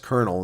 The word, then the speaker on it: colonel: Why is pronounced kernel not colonel?